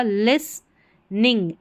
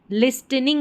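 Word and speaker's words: listening: एस के बाद में ये जो टी है ना इसका उच्चारण नहीं होगा। एस के बाद में जब टी है ये इसका उच्चारण नहीं होगा। लिसनिंग एन आई एन जी निंग लिसनिंग।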